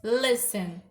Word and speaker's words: listen: A palavra listen, a sílaba tônica, né, é a penúltima, é listen.